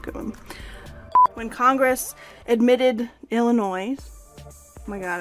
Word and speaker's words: Illinois: When Congress admitted Illinois, oh my god, I always forget how to say it. Illinois. No S.